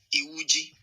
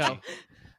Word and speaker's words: Iwuji: on his Wikipedia page, like it has like a pronunciation. So we'll go right here. Chukudi. Iwuji. Okay, so it's Chikuji Perfect. There we go. Iwuji.